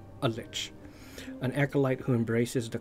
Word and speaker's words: lich: how to pronounce it correctly but I was pronouncing Lich a lick a lick like l i c k but